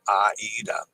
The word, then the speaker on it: Aida: see what does this Aida is of Italian origin and always properly pronounced Aida so I do that